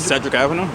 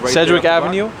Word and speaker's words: Sedgwick Avenue: there on how do you say it said Cedric Avenue Sedgwick Avenue and it because it became so packed and